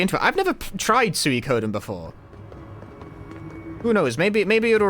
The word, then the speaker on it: Suikoden: First you've heard Suikoden pronounced with 4 syllables? Well, I'm correct, so... I disagree. It's actually 5, but don't worry about it. Midori onegai, thank you for the Prime Gaming. Suikoden. Den. Like, it's 5 mora, but like, den is... it's fine, it's like a syllable.